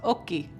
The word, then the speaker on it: Oki: It's actually just like it sounds. OH-KEE. So it is OH-KEE.